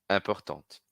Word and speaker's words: important: Vejam então como content, différent, prochain, passionnant e important e urgent, a gente vai pronunciar sem a última consoante, no masculino, e pronuncio a consoante final no feminino.